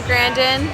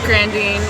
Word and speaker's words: Grandin: I'm here with Grandin. I pronounced your last name right, didn't I? Grandine. Grandine. Okay, so I failed.